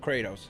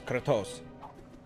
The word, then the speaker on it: Kratos: character of the day kratos that's the russian pronunciation of kratos it's kratos the god of war